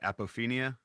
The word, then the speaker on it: apophenia: You talk about, I believe I'm pronouncing it right, apophenia. Is that Yeah. correct? Okay. Hmm. And apophenia is the tendency to perceive a connection or meaningful pattern between unrelated or random things.